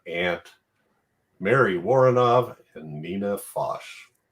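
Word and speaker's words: Foch: Mary waren and Nina fos or is it FX it's fos I just looked it up that's what I was taking time doing before the podcast that's how she pronounced it totally would say F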